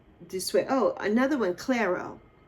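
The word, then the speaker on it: Clairo: Clero. I think she's it's pronounced Claro.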